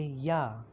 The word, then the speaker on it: ja: If you want to say yes in German, you will say ja. Yes, yeah. Be careful that in German, if it is J, English J, it is J, pronounced like yeah.